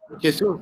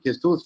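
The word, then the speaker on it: Jesús: Just for information to my Indian colleague, why I'm calling him Jesus, not Jesus, because in Spain, Jesus sounds Jesus. So he is pronounced as a Jesus, not Jesus.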